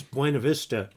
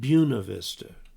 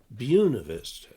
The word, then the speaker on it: Buena Vista: first syllable dubois and there's a place in colorado that reads buena vista but they won't do that they call it buena vista buena vista um okay looking for